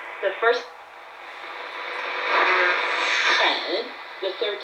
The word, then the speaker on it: 很: 外面很, the third tone means really or very much.